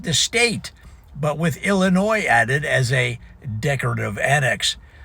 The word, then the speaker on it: Illinois: Never pronounce the s in Illinois.